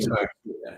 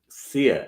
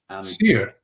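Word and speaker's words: Sire: Dictator Pope, by Henry Sack. Yeah. Sear, it's pronounced. I didn't realize until I met him. He's a very nice man. Sear? Sear, S-I-R-E.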